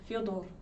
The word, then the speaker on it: Fyodor: Americans can't pronounce his name, so that's why he says Fedor and not Fyodor. Yeah, it says Fyodor, and for Americans that Fyo sound is almost impossible for them to do.